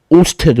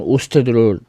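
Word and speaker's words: Ørsted: 아, 근데이 사람은 덴마크 사람이라 한스 크리스티안 오스테드 뭐 거의 그렇게 발음하는 거 같은데.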